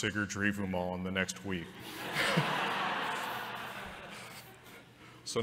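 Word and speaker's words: Sigurdrífumál: It does sort of help because all of these words are emphasized on the first syllable, right? Sigurdrivumal. Right, that's 1, 2, 3. This is a five-syllable word.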